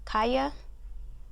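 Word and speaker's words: Calla: A next book here I have Stephen King's Wolves of the Kaya. I want to pronounce it in like the Spanish way.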